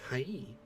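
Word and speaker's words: はい: e sounds like e or hai is actually pronounced hai that says japanese is a language spoken at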